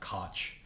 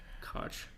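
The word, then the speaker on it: Koch: wait on his Wikipedia page it says it's pronounced cotch cotch and it's like it cotch is ball I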